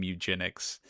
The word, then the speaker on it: Mewgenics: I'm playing I guess I'm playing Mewgenics. Let me make sure that I pronounce that properly.